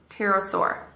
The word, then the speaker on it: pterosaur: talk to you about the pterosaur silent p wait you want to